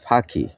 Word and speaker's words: ফাকি: যেমন ফাকি বাংলায় যেটা পাখি কিন্তু সিলেটিতে উচ্চারণ হয় ফাকি।